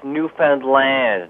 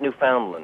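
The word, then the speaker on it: Newfoundland: things first of Paul it's New Foundland not New Foundland yeah but I'm from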